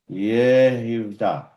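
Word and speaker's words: יהודה: Yod H U T A Yehuda. Sounds like Judah.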